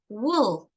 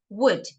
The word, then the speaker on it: would: We don't say wool, right? We pronounce like this. The symbols mean a pronunciation, all right? So we say would.